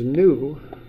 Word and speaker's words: nu: So that's nu, that's how you pronounce that.